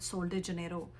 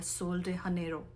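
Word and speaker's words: Sol de Janeiro: अगर स्पेनिश में करेंगे तो एच का साउंड आएगा और इंग्लिश में करेंगे तो जे का आएगा।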